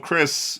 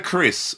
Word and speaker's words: Keris: So, we've got the Chris or Crisis, but I think it's pronounced the Chris, which for people that